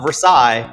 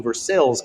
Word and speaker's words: Versailles: to veles Kentucky and it's not Versailles they will absolutely exclude you and not have a conversation so make sure if you're heading down to versales Kentucky you pronounce it properly at the new Technical